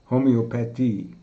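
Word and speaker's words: Homöopathie: First of all, the central feature of this course will be the subject of homeopathy, which in German is pronounced Homoeopathy.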